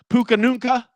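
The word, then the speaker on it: Puka Nacua: Of course, Puka Nunca. That's how you pronounce it.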